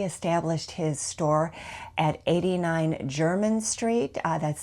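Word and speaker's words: Jermyn: Um he established his store at 89 German Street. Uh that's spelled J E R M Y N.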